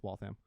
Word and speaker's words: Waltham: I was like, I don't know, it's probably Waltham, whatever. No, it's Waltham.